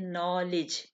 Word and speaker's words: knowledge: ठीक है, नॉलेज इसमें के जो है ये साइलेंट होगा।